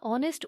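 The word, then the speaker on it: honest: एन ऑनेस्ट मैन यहां ऑनेस्ट ओ ओ sound से start हो रहा है एच साइलेंट है मतलब अगर वावल साउंड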